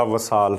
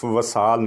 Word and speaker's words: وصال: دیتے ہیں یہ وصال، فلاں کا وصال ہو گیا، وصال نہیں وصال۔ پھر جلوس کیا دیتے ہیں،